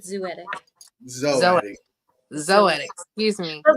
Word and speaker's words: Zoetic: um sick Lake music zoetic productions zotic did I not say it right said zoetic zo zo excuse me